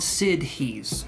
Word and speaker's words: siddhis: to bear with me here so they're called sid he's sid he's and they're spelled it's spelled like this this is generally known as